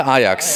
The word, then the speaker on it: Ajax: I would say Lisa Ajax.